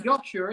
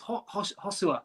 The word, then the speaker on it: Joshua: Like, come on, they're just it's not even Joshua, is it? It's Hosua.